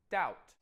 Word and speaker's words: doubt: Right, doubt. This is tricky because the B is silent.